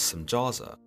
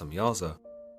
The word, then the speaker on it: Semjaza: The leader of these angels, known as Semjaza, sometimes pronounced Semyaza, tells the Watchers that they should reconsider their